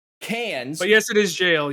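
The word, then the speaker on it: Cairns: how it's pronounced uh the cranes ones the c-a-i-r-n-s is cans but yes it is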